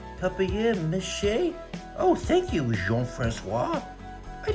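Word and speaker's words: papier-mâché: It is pronounced papier mache.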